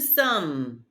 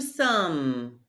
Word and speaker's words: sommes: Nous sommes. Nous sommes. Don't pronounce the S.